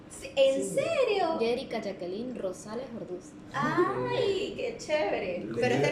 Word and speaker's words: Orduz: Me cuesta la pronunciación del porque voy a decir es Ordaz. No. Bueno, ya regresamos entonces, nos vamos con música y regresamos después de el corte. Yo también soy Orduz.